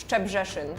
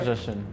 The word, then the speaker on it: Szczebrzeszyn: Szczebrzeszyn. Szczebrzeszyn. Yes. Szczebrzeszyn. What about you? Szczebrzeszyn. Yeah, Szczebrzeszyn.